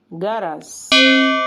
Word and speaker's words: جرس: اليمنيه ولهجات عربيه تانيه يعني كلمه جرس بينطقها المصريين جرس جرس وجوافه جوافه جواف حرف